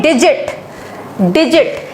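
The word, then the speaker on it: digit: इन 3 letters में से जो भी आएगा तो वहां पर जी को ज पढ़ा जाएगा ज्यादातर, मोस्टली, नॉट ऑलवेज।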